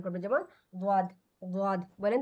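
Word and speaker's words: ضاد: দ সেটি হল দ জিহ্বার পাশ ব্যবহার করে উচ্চারণ করতে হয় এই দটা হল আপনার যে জিহ্বার ডান পাশ অথবা বাম পাশকে আপনার দাঁতের সঙ্গে লাগিয়ে দটা উচ্চারণ করবেন যেমন দদ বলেন তো এই দটা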